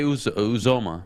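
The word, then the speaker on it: Uzomah: Uzoma.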